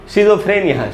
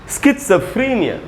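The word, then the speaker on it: schizophrenia: ये हो गया था, तो इसको बोलते लोग शिज़ोफ्रेनिया। शिज़ोफ्रेनिया, शिज़ोफ्रेनिया नहीं होगा दोस्तों, ये रहा उच्चारण, बहुत ही कमाल का उच्चारण ये है स्किट्सफ्रेनिया। स्किट्स या आप ट भी बोल सकते हैं, स्किट्स, वैसे त है इसका असली उच्चारण। स्किट्स, स के बाद आधा है स्किट्स फ्री, वो फ्री में जो बड़ी ई है उसी पर स्ट्रेस है।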